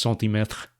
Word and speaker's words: centimètre: Like, I don't really know if you agree with that, but in French, it's centimètre.